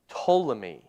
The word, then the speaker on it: Ptolemy: Well, that's going to be Ptolemy. Okay, I'm going to spell it for you because it's got a silent P there.